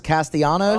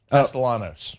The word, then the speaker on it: Castellanos: That's uh what's his uh tom to uh Thomas Castanos I think is his name. Yeah. Oh yeah. I think you pronounce the L's. Castellanos.